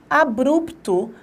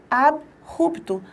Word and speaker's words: abrupto: É comum eu pronunciar abrupto, abruptamente, e na verdade eu tenho que pronunciar abrupto, abruptamente.